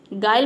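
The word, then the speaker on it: guile: आया है तो यहां पे हम यू को प्रोनाउंस नहीं करते हैं गायल मतलब होता है छल कपट गायल में देखिए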